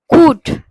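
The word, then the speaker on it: could: এইবার তাহলে এল এর আগে ইউ আছে, এল এর আগে ও আছে, তাহলে এল গুলোকে উচ্চারণ করবো না। প্রপার উচ্চারণটা কি হবে বলে দাও। শুভশ্রী বলো, শুভশ্রীকে মাইকটা দাও, বলো শুভশ্রী। কুড, কুড। তারপর ফোক, ফোক, এল এর উচ্চারণ হবে না।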